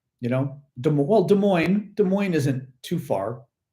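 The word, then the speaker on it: Des Moines: you know de well De Moine De Moine isn't too far we don't say Des Des mois you know we say De Moine so you don't pronounce the S which is correct um anyway versil ver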